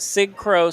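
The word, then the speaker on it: Cig Cro: Sig Crow, C-I-G-C-R-O. Like cigarette, Sig.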